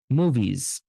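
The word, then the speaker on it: movies: আবার অনেক সময় এস এর উচ্চারণটা কিন্তু একটা বাজিং সাউন্ড হয়, তখন এই হিসিং সাউন্ডটা হয় না। হ্যাঁ, ফর এক্সাম্পল আমি উদাহরণ যদি দেই, মুভিজ, মুভিজ। হ্যাঁ, এখানে যে এসটা মুভিজ, এটা কিন্তু একটা কিসের মতো উচ্চারণটা, একটা বাজিং সাউন্ড, বাজিং মানে জেড এর মতো, জ বর্গীয় জ এর মতো উচ্চারণটা, মুভিজ। হুম, মুভিজ, জ জ এরকম একটা সাউন্ড, মুভিজ।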